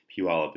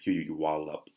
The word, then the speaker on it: Puyallup: you stargazer comics and Puyallup Puyallup is once you move here you understand how to pronounce it PU y al lu p when we first moved here we had no idea what coin you you wall up anyway star gauge of